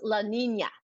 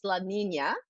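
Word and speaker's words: La Niña: It's pronounced La Nina, even though it's Nina, it's La Nina.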